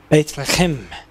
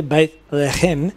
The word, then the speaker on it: Bethlehem: Okay, and then it gives you the pronunciation again. B-A-Y-T-H. B-A-Y-T-H dash, and then L-E-H with an apostrophe against the H, and a dash, and then K-H-E-M, Chem, Bethlehem.